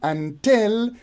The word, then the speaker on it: until: can see here that in until the first syllable is unstressed while the second syllable tail is stressed so here we have